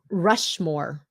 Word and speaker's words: Rushmore: Mount Rushmore stopped T Mount Rushmore Mount Mount Rushmore okay that's George Washington